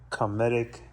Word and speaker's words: Cometic: We got Cometic. That's how it's pronounced, right? Cometic?